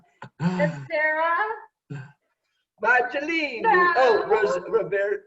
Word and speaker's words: Roversi: Oh, Roversi. How do you say it? Roversi.